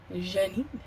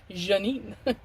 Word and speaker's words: Janine: Janine, yeah. The English way.